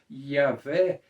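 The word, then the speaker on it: Yahweh: nós fizemos hoje que o sentido mais preciso mais exato a pronúncia seria yaveh eles não escreviam por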